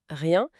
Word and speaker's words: rien: Et la prononciation nasale de rien, rien qui est mentionné dans les notes, c'est pas juste un son à imiter, c'est un son qui porte cette émotion.